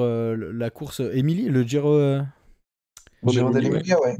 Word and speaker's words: Giro dell'Emilia: Giro dell'Emilia, ouais. Voilà, Giro dell'Emilia. C'est très mauvaise prononciation que j'avais.